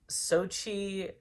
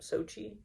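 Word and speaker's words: Xochitl: Um, and it's also starring Benedict Cumberbatch and Benedict Wong and uh, Sochi Gomez, I believe is how you pronounce her first name, Sochi.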